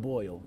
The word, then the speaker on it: Boyle: to talk about Boyle I'm pronouncing the name right Boyle right you are thank you for taking